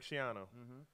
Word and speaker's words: Schiano: Shiano, or whatever. That was them. How do you pronounce his name? Greg Schiano.